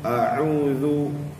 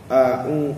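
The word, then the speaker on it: أعوذ: Jadi kita kena jelaskan bunyi ain tu. A'udzu, banyak dalam kalangan kita yang bacanya a'u, a'u, a'u. Itu dua-dua jadi hamzah. Dia tak keluar ain tu, tak sampai ke tahap makhraj huruf ain tu.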